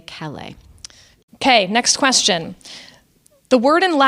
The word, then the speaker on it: Callais: Well, I would not sit in review over the Chief Justice, but as a New Orleanian, if I just saw that, I would say Calais.